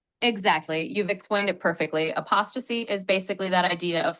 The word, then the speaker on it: apostasy: the church after hundreds of years of opc a p o s t a s y yes that's right that word is pronounced apostasy like apostasy it basically means a period was